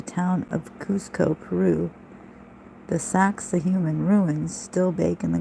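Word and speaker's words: Sacsayhuamán: by laughingly telling them it is pronounced sexy woman I didn't even get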